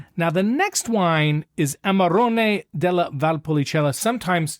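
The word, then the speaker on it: Amarone: Amaron. Amaron.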